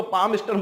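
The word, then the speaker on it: Palmerston: रा इसे मैं ऐसा बोलूंगा तो रा बड़े अजीब से बोलेगा, पाल्मस्टन नहीं, इसको पाल्मस्टन बोलते हैं। रा अपने आप ही क्या होता है? साइलेंट होता है।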